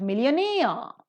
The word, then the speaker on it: millionaire: And similarly, you could find many such examples as obtain, sustain, million. The first syllable is accented, but millionaire, the second syllable is accented.